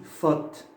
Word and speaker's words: faute: Si vous trouvez AU ou EAU, vous mettez directement le O fermé, comme ici. Faute.